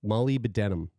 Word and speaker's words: molybdenum: MOLYB, Molly B DENUM, denim, molybdenum. It's a Can you weird hi- word.